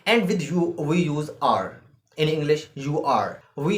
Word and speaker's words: er: German is er e r he in German is R she in German is